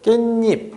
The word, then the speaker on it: 깻잎: 어쨌든간에 자 저 친구 바람을 때 우리가 게입 주세요 이렇게 안 하죠 항상 발음할 때 어떻게 하냐면 깻잎 이런 식으로 발음을 하게 되죠 자 보세요 우리가이 친구는요